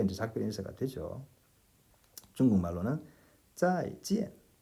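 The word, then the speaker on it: 再见: 再见 이라고 합니다. 둘 다 사성이죠.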